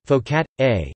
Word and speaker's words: focaccia: focaccia Italian pronunciation folk at a is a flat oven